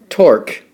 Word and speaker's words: torque: torque and as i say in some books it rhymes with fork although spelled quite differently torque it's a twisting